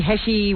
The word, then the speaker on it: Heche: that she and that Annie Heche, whatever her name is. H, I've learned. H? Yeah. Well, spell it that way.